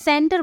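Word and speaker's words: center: कि क पढ़ना है सी के बाद ई दिखा तो मैं इसे क्या पढ़ूंगी मैं इसे स पढ़ूंगी सेंटर बोलूंगी ना कि कैंटर बोलूंगी ओके वैसे ही देखिए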